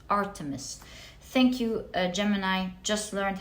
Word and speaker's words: Artemis: protection so lovely you have oh you have Artemis uh art uh I think it's pronounced Artemis let me check once and for all I get confused with her name okay so her name is actually pronounced Artemis thank you Gemini just learned how to pronounce